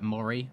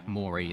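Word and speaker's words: Moree: to value pronounce it because it's m-o-r-e-e which you could do as uh maury murray but yeah maury is how google has told me so if it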